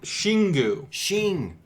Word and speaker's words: Xingu: Shingu. So the Wikipedia has like the pronunciation.